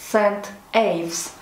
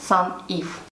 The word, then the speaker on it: St Ives: Сегодня в продолжении рассказа о нашем с мамой большом путешествии в графство Корнуолл я расскажу про полуостров Сент-Эйвс. Так он звучит по-русски, но я буду произносить по-английски Сан-Ив.